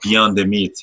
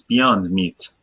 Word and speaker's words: Beyond Meat: You know, I hope you understand that it's not beyond the meat. It's beyond meat.